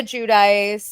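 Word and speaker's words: Giudice: Gia said Judice. Judice. That's okay. So, it's Gia Judice.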